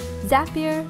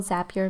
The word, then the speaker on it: Zapier: with zapier or zapier zapier makes you happier I think they pronounce is happier she's going to run